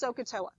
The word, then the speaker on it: SOHCAHTOA: So that's not a real word, but it's pronounced SOHCAHTOA.